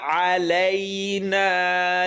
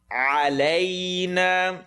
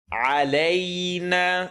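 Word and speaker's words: عَلَيْنَا: Alayna, and you hear the A sound. You hear the Canadian rule here. Alayna. It's not alay, ala, alan, ala, alana, or alayna. Give the A sound.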